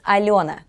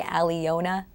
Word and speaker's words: Alyona: It's Alyona, and people who speak English can't exactly say Alyona, and so rather than, for some reason, it's just a really horrible pain to my ears when people say Alyona when they pronounce the Y, so I've made it silent.